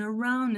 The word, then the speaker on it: around: Makes me wanna turn around and turn around and turn around and. Entendeu? O que a gente está conectando aqui não é o D, O é N. o N, Around.